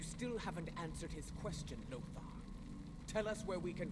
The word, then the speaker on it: Lother: see us again so spelling it like lothar with an a lot h a r would be lothar they drop the a and spell it as lother and but they still say lothar whatever well this is